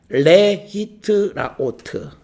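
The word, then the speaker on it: להתראות: 그 다음에 우리가 사람이 만났다가 헤어질 때 그때 사용하는 언어 그 인사가 우리가 뭐 영어로 bye 뭐 이렇게 쓸 수도 있지만 레히트라오트 이렇게 발음합니다.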